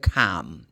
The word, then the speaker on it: calm: But the word should be pronounced like calm. No L.